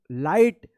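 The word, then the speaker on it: light: एल आई जी एच टी आई के बाद जी एच रहेगा तो क्या होगा? आई का आई उच्चारण करिएगा। लाइट और इस जी एच का उच्चारण नहीं होगा।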